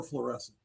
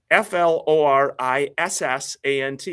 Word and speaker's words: Florissant: Or fluorescent. Depending on how you pronounce it. I No, it's spelled um f l o r i s s a n t.